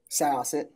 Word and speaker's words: Syosset: Syosset? Syosset.